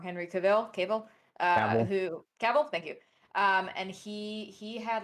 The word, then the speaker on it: Cavill: Oh my God, I always say his name wrong. Henry Cavill, Cavill.